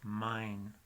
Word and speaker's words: mãe: Y ese sonido de AE es ein, como si fuera A-I-N. La palabra de madre en portugués es M-A-E con tilde sobre la A y es mine.